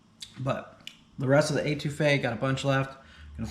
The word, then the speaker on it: étouffée: All right, let's get into this étouffée. I had to look up the correct pronunciation.